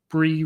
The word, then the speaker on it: Brie: season but instead of season we've got Bri Bri rhymes with C so we've got is the breez